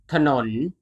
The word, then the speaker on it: ถนน: If the leading consonant appears in the second syllable, the first syllable is always pronounced with the vowel a, and it is hidden.